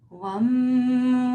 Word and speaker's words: Vam: And then to the second chakra, the word is Vam, V-A-M, pronounced as if it's a W. Wam, wam, wam, wam, wam.